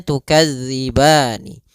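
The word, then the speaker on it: تكذبان: yaitu huruf syinnya mati sedangkan di sini asalnya tukadzibani Nun berharakat kasrah karena dia waqaf nunnya itu biasanya bacaan al-quran atau baca orang Arab mematikan huruf akhirnya diganti dengan huruf sukun maka nunnya menjadi kita sukunkan Nah inilah namanya sukun Arid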